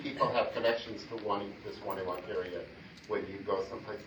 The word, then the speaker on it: Wonewoc: It depends on how you say it. If you're from here, I think you say Wonewoc. If you're not from here, you say Wonewoc.